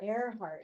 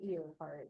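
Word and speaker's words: Earhart: say Earnhart ear heart is it ear heart or a heartart a heart even though it's spelled ear heart Amelia aart okay who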